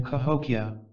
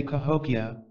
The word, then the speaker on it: Cahokia: I even remembered that I should put the emphasis on the third syllable when I say Cahokia instead of on the second which is the way